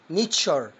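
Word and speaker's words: nature: الكلمه بسبب الحاجات دي تاني مقطع وهو مقطع مهم هنا كان اس يو ار اي شلنا الاس حطينا تي بقت ايه تشار يبقى نط التركيبه على بعضها او الاربع حروف تشار يلا زي ما عودناكم حاول تنطق معايا واحده واحده ها نيتشر تبقى الكلمه ايه على بعضها ها برافو نيتشر يعني الطبيعه يلا كلمه مستقبل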